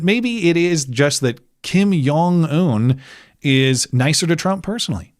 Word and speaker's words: Kim Jong-un: Is it a J or a a Yong? Well, the thing is that since they're in close proximity of China, it's Yong, not Jang. That's how they say it.